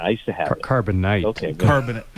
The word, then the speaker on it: Carbonite: Carbonate. Carbonate is the best. Yeah, I used to have it. Carbonite. Okay. good. Carbonite or carbonate. Star Wars fans are having Yeah. a fit everywhere at that pronunciation.